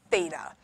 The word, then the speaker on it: Theta: and go to university thinking it was feta like the cheese it's not it's Theta so please don't tell